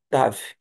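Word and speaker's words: תו: Vamos para a nossa última consoante que é o Tav. O TAV é o nosso T de tatu.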